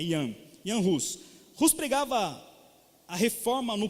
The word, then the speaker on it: Jan Hus: Então a língua é a língua tcheca, e a pronúncia é Jan Hus, é igual o nome, é João, mas é Jan, igual quando você fala Johannes, né?